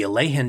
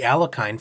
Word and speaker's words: Alekhine: may play an opening as tricky as it is for non-Russian speakers to pronounce, the Alleen defense, or commonly referred to in some circles as the Alakine for ease of reference.